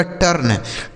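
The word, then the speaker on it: turn: जैसे टी से हो गया ट, इस यू का उच्चारण आ हो गया, आर से हो जाता है र और यन से न, ये लिखा गया आपका टर्न, टी यू आर एन, टर्न। इसे टर्न नहीं टर्न पढ़ा जाएगा।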